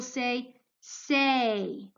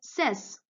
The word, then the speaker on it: says: be pronounced you will say say a but here you'll say sis sis you're not pronouncing it say's okay that's wrong so here the phonogram